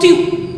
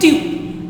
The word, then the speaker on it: tu: This is not tu, this is not tu, this is tu. Okay. It is more than one gust of air. Tu. No, it is tu. The pronunciation is tu.